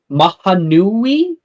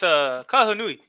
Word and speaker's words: Kahanui: How do I pronounce this? Mahanui? Sorry. Hello, bro. It's Kahanui. Kahanui.